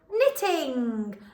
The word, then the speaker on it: knitting: we've got it let's put it together knitting like knitting a jumper for my friend knitting